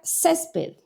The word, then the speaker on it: césped: La palabra césped nos estamos acentuando a la mayor fuerza de voz. ¿En dónde? Aquí en la penúltima sílaba.